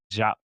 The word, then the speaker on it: Diop: pronounced Jakh. One of my friends is Senegalese. It's pronounced Jakh.